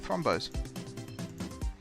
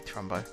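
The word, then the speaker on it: Thrumbo: Oh, thrombos. I really want to tame some thrombos. Well, yeah. Thrombo. I mean, it's technically Trumbo. I'm saying it wrong, but yeah.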